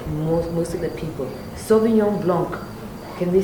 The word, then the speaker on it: blanc: If you ask most of the people, Sauvignon Blanc, can they say it? No? Red, white. So if I... Oh wow. But it's true. It's true. It's true. That's blanc. You don't pronounce the C.